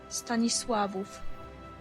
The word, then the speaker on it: Stanisławów: Stanisławów. Stanisławów. Stanisławów. That is a Polish person's pronunciation.